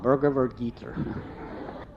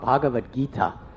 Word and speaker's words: Bhagavad Gita: but it was a book called Burger G I said it's called bhagavat Gita he said I've been reading that book for 3 years and I never knew how to say it and then he